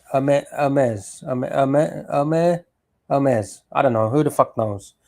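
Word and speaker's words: Hermès: Some people pronounce it Hermes. Hermes. Um, I think the correct pronunciation is a like a silent H. E R M E. Hermes. Ames.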